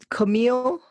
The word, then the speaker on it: Camille: name really was was Camille So it rhymes with chameleon and camel and that's what they